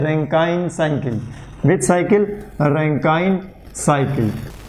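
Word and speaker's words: Rankine: So some professor also pronounce this रैंकाइन cycle as ए रैंकिन cycle. तो कोई बात नहीं, एक ही बात है, रैंकाइन साइकिल, हम तो रैंकाइन बोलेंगे। तो स्टीम पावर प्लांट में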